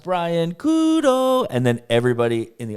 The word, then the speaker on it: Brian Couto: my name and and how it sounds different in English and in Portuguese so that I could just say, and remember guys, my name is pronounced Brian Kudo and then everybody in